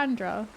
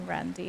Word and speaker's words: Andra: Like Alexandra, but without the Alex. Yeah, Andra.